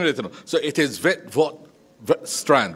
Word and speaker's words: Witwatersrand: So it is Witwatersrand, right? Witwatersrand. I am saving you trying to pronounce this, Minister, but it gives me great